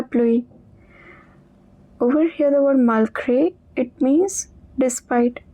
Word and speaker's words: malgré: Over here the word malgré, it means despite.